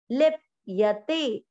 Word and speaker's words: लिप्यते: य में अमिक्स किया, लिप यते लिप यते ऐसे नहीं बोलना, लिप यते।